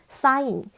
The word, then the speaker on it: sign: 그래서 보면 sign, 우리 서명할 때 우리의 서명 있잖아요. 그거를 sign이라고 하고 디자인은 우리가 아는 것처럼 그 디자인을 의미하는데 이때는 여러분 어디에서도 G나 또는 그 소리가 나지 않습니다.